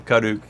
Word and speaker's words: Karuk: spelled k a r UK K karuk but pronounced kaduk so yeah um kaduk country kind of is